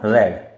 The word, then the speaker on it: read: And read will become red. The spelling remains the same but while speaking in second third form, it is pronounced as red.